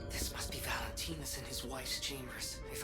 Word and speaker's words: Valentini: Valent I've been pronouncing this as Valenteus but this is it's Valentinis human heart can be